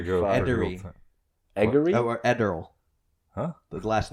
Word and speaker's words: Ederle: It's like Adderall, but with an E.